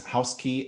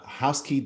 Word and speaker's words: Housky: yes and it's housekey at uh housekey doio is the main URL housek key.